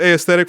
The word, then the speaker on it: aesthetic: I say aesthetic and I distinguish the A and the E because in the Original Latin it's it's called a diphthong it's a linguistic term